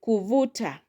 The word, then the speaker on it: kuvuta: We have the word kuvuta kuvuta. Kuvuta has three syllables. So the second from the end we learn on vu kuvuta kuvuta which means to pull.